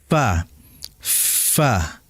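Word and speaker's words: ف: Sehingga kalau kita praktikkan bibir bawah dan bagian dalam ya menempel dengan ujung gigi seri atas. Fa fa. Nah, kalau kita perhatikan dengan seksama, maka huruf fa ini tidak akan benar makhrajnya, pengucapannya dari sisi tempatnya bila tidak keluar udara.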